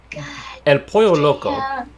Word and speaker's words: El Pollo Loco: excited eating entire galaxies you have to pronounce the l's as wise el pollo loco is it oh this